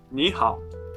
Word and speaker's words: 你好: In Chinese, if you have 2 syllables with the third tone in a row, then the first syllable changes into a second, a rising tone.